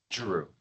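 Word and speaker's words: Giroux: for pay file number SLDA-25-020 Robert Shidu Jeru Jeru Okay, thank you. Would you say state your name and spell it?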